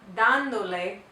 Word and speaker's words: dándole: Because we want to keep the pronunciation in the same syllable as without the le, we have to add an accent mark when we put the le on the end. Dándole. Jess está dándole unos libros.